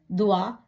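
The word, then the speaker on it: toit: இதுல ஒரு எஸ் சேர்த்தீங்கன்னு சொன்னால் துவா, விரல்கள்.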